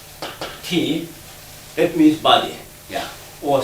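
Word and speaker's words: 體: Ti means, it's pronounced Ti.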